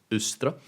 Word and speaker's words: Eostre: out in that previous video a more correct pronunciation would be ustra closer to the Anglo-Saxon route and the pronunciation